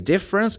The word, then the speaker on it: difference: You don't say difference C. No, I'm saying difference. The E is not pronounced. And the last letter, in this case, difference, it's E, but you